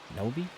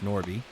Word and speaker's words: Norby: Noby? It's Norby.